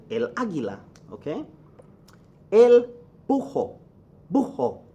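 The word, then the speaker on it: búho: Aguila okay el Ojo buho okay so I'm say elbow because get rid of the age sometimes because of the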